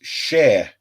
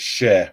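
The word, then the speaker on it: Schär: his tactics um uh Paul says no it's pronounced share the umot is essentially AE so it's share well thank you very much for that Paul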